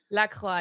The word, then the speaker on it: La Croix: I've got my LaCroix. Is that how you say it? Oh God, you say it fancy. La Croix. It's like croissant, but you don't pronounce the X, so La Croix.